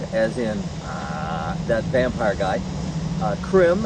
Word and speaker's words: Crim: Crim, as in crimson, which is not spelled with a K.